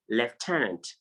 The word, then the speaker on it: lieutenant: Some persons also pronounce this word as lieutenant, lieutenant, you understand?